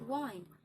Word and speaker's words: wind: A reader always bear in mind the difference between wind and wind. The latter rhymes with rind and kind.